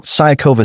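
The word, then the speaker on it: Siniaková: So, Siniakova sounds better.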